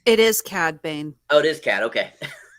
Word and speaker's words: Cad Bane: Cade Bane. It is Cad Bane.